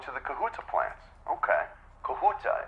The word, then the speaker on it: Kahuta: the kahuta plant okay kahuta is that the correct pronunciation am I saying that right yes okay great pz had